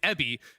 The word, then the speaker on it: Evi: so everyone knows like it is spelled evi but his name is ebi means shrimp yeah so it's it's